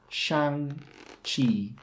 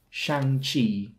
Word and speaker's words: Shang-Chi: to pronounce it as shang chi shan chi shang chi the first word rhymes with bang sand and land the second has a ch sound as in church and choice once again you may